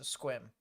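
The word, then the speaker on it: Sequim: It's like swim, but with a Q. Gotcha, so squim.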